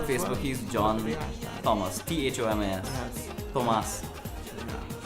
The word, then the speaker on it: Thomas: He's John Thomas, THOMAS. Yes. Thomas. Yeah. The H is silent for some strange reason.